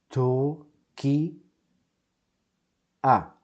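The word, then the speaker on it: טורקיה: We have a tet, tet, and vav with a dot to the left. That's tu, tu, tu. Then we have the letter resh, resh. Tur, green traffic light. Let's continue to the left. Tur, k, kuf, tur, k, I, Turki, a, Turkia, Turkia.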